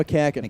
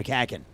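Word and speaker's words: McCaughan: Yeah, it's not the way it's it doesn't pronounce the way it's spelled. That's Sky to right. Stokes will make the catch for out number two. Yeah. Darren McCacken. McCacken. Yes. Darren McCacken.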